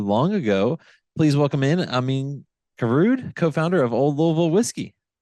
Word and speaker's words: Amine Karaoud: uh not too long ago please welcome in Amin garud co-founder of Old Louisville whiskey thank you thank